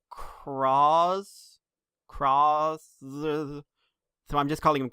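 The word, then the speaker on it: Cross-Z: Because it's spelled cross with a Z. And it's kind of pronounced cross.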